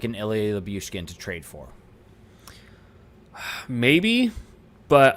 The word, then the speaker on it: Lyubushkin: You're adding another Y. That's Lyubushkin? Like it's Lyubushkin. Lyubushkin? Okay, Lyubushkin. There's just no other Y.